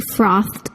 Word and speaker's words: frothed: Verbs ending in voiceless sounds, p, k, th, f, s, sh, ch, cause the ed ending to be pronounced as the voiceless t, with no vocal cord vibration.